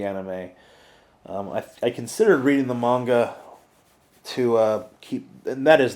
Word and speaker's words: manga: I considered reading the manga to keep, and that is the proper pronunciation, by the way.